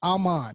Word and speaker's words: Aman: I mean, that's why I start the show with my name is Aman. It's a short A, not a long A, right?